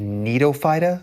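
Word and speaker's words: Gnetophyta: the last one is called Nido with a silent G um nites are a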